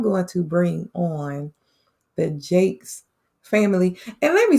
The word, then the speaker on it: Jacquez: my family that's looking i know that says my nephew's name jacquez but for them it's pronounced jakes okay and so we